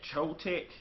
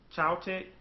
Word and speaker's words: Choetech: Chotech, Choetech.